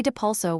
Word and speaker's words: Depulso: Say depulso with clarity stressing the second syllable so intent and sound align.